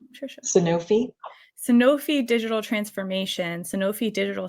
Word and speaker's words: Sanofi: I'm feeling a little meh about these when I look at the keywords, because the keywords here, how do you pronounce the company name, Trisha? Sanofi.